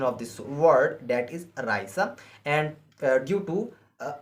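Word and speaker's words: Reise: not I not i e EI I is pronounced in German as I or a okay the four example of this rule is Raa Raa and the spelling of this word re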